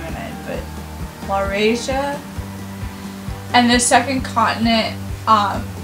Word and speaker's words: Laurasia: of lorry croatia i should be able to pronounce that has my name in it but laurasia and the second continent um was known as